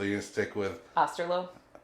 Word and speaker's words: Osterloh: going to stick with aslo it's pronounced just like it's spelled y beautiful uh so